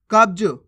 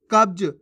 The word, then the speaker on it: कब्ज: तो बन गया ख्याल कब्ज कैसे पढ़ेंगे कब्ज कबज नहीं कब्ज सच्चा कैसे पढ़ेंगे सच्चा